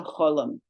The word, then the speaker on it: cholam: Called a cholam, pronounced O.